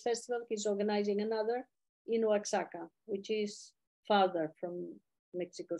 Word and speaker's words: Oaxaca: We say Oaxaca. And, You pronounce Oaxaca, you pronounce Oaxaca. Okay. Oaxaca. The X in Spanish in Mexico can be pronounced as X, as J, like my name